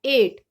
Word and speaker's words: eight: हम सीधा ही बोलेंगे EIGHT को, एट। जी और एच की वॉइस इसमें नहीं आएगी।